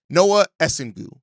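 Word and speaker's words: Noa Essengue: 6'9", Noah Essengu. I believe I finally got the pronunciation of his name correct.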